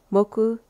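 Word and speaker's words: 木: I know how to pronounce them in Japanese. You got moku, hi, tsuchi, kane, mizu.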